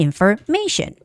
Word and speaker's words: information: And there's the transportation, destination, and information. Okay, anytime when a word has tion ending, the stress goes on the syllable in front of tion. So location, transportation, destination, and information.